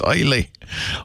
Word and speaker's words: Islay: Islay. Yeah. Okay, like an isle. Without the brogue. I can't do the brogue. So, it's great. It's Islay.